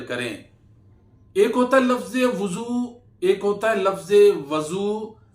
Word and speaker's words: وضو: اس کا مطلب یہ ہے کہ میں نے برتن میں پانی لے کر وضو کیا۔ تو اس کا اصل جو تلفظ ہے وہ ہے وضو۔ جب بھی آپ بولا کریں تو کہا کریں